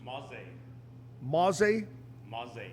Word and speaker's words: Mauzey: can we do that tell us the correct pronunciation of your last name because I've heard it three different ways ma ma ma there you go ma ma ma ma I